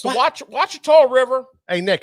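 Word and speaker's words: Ouachita: Wachita is the correct way to say that. Spelled with an O. It's called Wachita.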